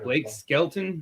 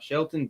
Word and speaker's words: Skelton: We had Blake Skelton, not Shelton.